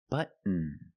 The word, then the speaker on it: button: Button. Button. Not button, it's button. Stop T and fall to the N.